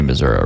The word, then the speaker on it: Missouri: If you're from Missouri, I think you say Missouri, right? Sounds right. Yeah, because why would you want to go around pronouncing your state like misery all the time?